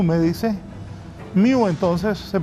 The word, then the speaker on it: Mu: Me dice el doctor Carlos Aguilar, se escribe Mu, se pronuncia Miu, me dice. Miu, entonces, se pronuncia esta variante.